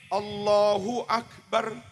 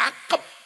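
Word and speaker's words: الله أكبر: Jangan lakukan itu; Biarkan saja mengalir, "Allahu Akbar," jangan dibaca "Allahu Ak-bar." Mengapa harus berhenti sejenak? Dan jangan ucapkan "akep."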